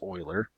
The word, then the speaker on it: Euler: and if you only it's his name is spelled like this oiler ok it approaches e